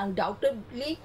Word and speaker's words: undoubtedly: early is undoubtedly নিঃসন্দেহে এখানে beta উচ্চারণ হয়নি বিটা অমিট আছে undoubtedly বিটা আমরা উচ্চারণ করব না এটা তুমি যদি বলতে চাও অনেকে হয়তো বলবে আনডাউটেডলি নো বিটা উচ্চারণ হবে না আনডাউটেডলি বি মুখ আমি লাগাবো